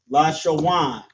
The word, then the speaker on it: Lashawan: So we have la, sha, and then wa and na right here turns to wan. Lashawan. Qua, da, and sha turns to dash. Qadash. La, sha, wan, Qadash.